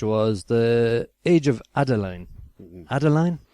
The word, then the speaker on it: Adaline: the age of Adeline Adeline it doesn't sit right Adeline yeah Adeline yeah at least that's how they pronounce it I think you